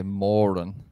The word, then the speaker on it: Moran: Do you know how we pronounce her surname in Ireland? We say Moran.